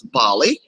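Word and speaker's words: BALLE: that we are affectionately known as Bali like the country pronounce be a li um but it's ba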